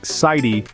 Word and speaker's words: city: In words like city or better, the T sounds almost like a soft D. So it's pronounced more like sighty and better.